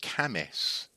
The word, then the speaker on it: Cambois: There's a place up here in the northeast of England called it's called Camis, but it's spelt Cambois.